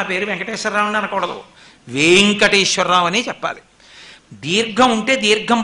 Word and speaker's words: వేంకటేశ్వర: చదవకూడదు అందుకే గుణింతాలు ఉంటాయి వెంకటేశ్వర లేదు వేంకటేశ్వర అక్కడ వే కి దీర్ఘం ఉంటే మీరు వేం అనాలి వేంకటేశ్వర అని పేరు పెట్టుకొని నా పేరు వెంకటేశ్వరరావు అని అనకూడదు వేంకటేశ్వరరావు అనే చెప్పాలి దీర్ఘం ఉంటే